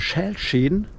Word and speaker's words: Schälschäden: Das sind sogenannte Schälschäden. Habe ich das richtig ausgesprochen? Schälschäden, genau. Genau.